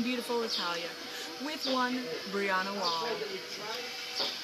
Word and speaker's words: Walle: My name is Janel Holcomb, and I'm here this afternoon in beautiful Italia with one Brianna Walle. Her last name is spelled W-A-L-L-E, but the E, it's silent.